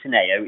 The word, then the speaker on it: Teneo: Yes, you pronounce it Teneo. It's actually Latin for to know and to understand.